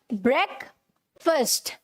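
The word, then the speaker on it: breakfast: सो अब मैंने आपको बता दिया, यहाँ पर ये जो दोनों ए हैं एक तरीके से साइलेंट हैं, ठीक है, हमें इन्हें नहीं बोलना है, फाइन, यस।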